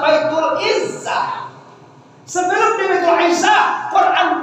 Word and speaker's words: Baitul Izzah: Baitul Izzah, bacanya Baitul Izzah.